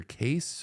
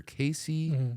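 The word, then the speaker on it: Cayce: times see their uh Edgar case or Edgar Casey I always heard it as Casey but it's spelled a little different um he claimed to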